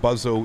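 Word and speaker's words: BUWZO: intersection so we'll get buzz oh in here b u w z o o depends where you are in the world and how you pronounce that a buzz-oh and we'll accept that cool and then from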